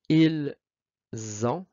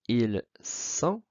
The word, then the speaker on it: ils ont: Maintenant, ils ont, elles ont. Ici, très très important de prononcer de faire la liaison z, comme une abeille z, parce que si on prononce ils sont, eh bien, on vient de prononcer le verbe être.